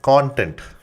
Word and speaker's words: content: yourself to say it's content marketing. Okay, so that way, I know English is a funny language, right? You spell both the things exactly the same way, but you pronounce it completely differently.